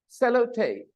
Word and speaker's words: sellotape: column sellotape hello Tate sellotape sellotape save low tape three vowel sounds clearly sellotape the stress on the first syllable sellotape again sellotape put